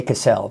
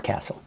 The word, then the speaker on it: Castle: I always want to say Cassell, but I know it's Castle. Because Castle, you know, as we know, the castle, there is a castle, right?